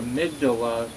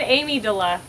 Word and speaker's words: amygdala: know uh you know I said Amy De La Amy my favorite person Amy dawa Amy dollar now it's amygdala but when you're feeling stressed yeah your amygdala is going off like